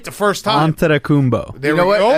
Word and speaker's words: Antetokounmpo: it up, even if I know how to pronounce it. Oh, I got it now. Antetokounmpo.